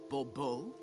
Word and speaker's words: de Bourbeau: The emphasis falls on the last syllable. Bourbeau?